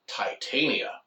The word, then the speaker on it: Titania: The author insists, in this case, it's pronounced Titania.